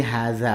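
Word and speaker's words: هذا: Jadi haza itu cara mengucapinnya, haknya itu memanjang 2 harokat karena ada alifnya di situ.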